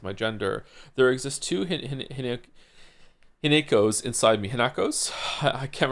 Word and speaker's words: Hinako: Hineko. Didn't they say Hinako at some point though? I remember it being pronounced without the ne.